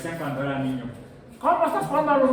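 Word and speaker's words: ν: letra cuál es Sí pero no es la letra mu de de micra no sigue después de esta primera vez en el alfabeto griego y se pronuncian ni ni crón es la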